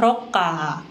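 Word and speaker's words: ロッカー: Dan yang terakhir ada locker, bahasa Jepangnya adalah rokka. Rokka. Nah, hati-hati ya antara locker dengan lorong karena mungkin sekilas terdengar mirip. Kalau lorong itu rokka, kalau locker rokka.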